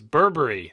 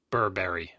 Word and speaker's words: Burberry: By the way, the chat room is trying to correct our pronunciation of this song, saying it's Burberry, not Burberry or whatever.